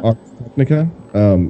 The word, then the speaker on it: Ars Technica: Ars Technica? Is that how you pronounce it? Technica? Ars Technica.